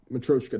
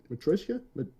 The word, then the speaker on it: Matryoshka: It's like Matryoshka doll, but it's like I don't want to hit each consonant super fucking hard.